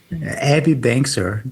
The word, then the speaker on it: Abby Bangser: pronounce is the name of our guest today, Abby Bangser. Novel idea. Yeah. Oh, say it again because I spoke over you. Abby Bangser, the name of our guest today. Hopefully, I pronounced it correctly, and I actually want to hear her voice.